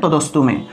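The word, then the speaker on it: তদস্তু মে: যদি না ভাঙ্গেন তাহলে তদস্তুমে যদি না ভাঙ্গেন তাহলে তদস্তুমে ঠিক আছে না ভেঙ্গে উচ্চারণ করেন এটাই ভালো হবে ঠিক আছে পরিপূর্ণ তদস্তুমে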